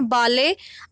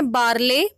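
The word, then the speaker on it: barley: Screen पर जो word दिखाई दे रहा है, इसकी ब्रिटिश प्रोनंसिएशन है बाले, आर साइलेंट हो जाएगा। अमेरिकन प्रोनंसिएशन है बारले, इसका मतलब होता है जो।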